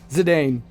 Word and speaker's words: Zidane: Do you know how long I got away with calling him ZIDANE? Zidane.